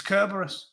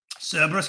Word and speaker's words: Cerberus: Apparently it's pronounced with a C, not a K. Cerberus, Kerberos, don't care.